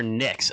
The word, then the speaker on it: Nyx: now so so i what are the dm says i-core nics okay okay so i'm okay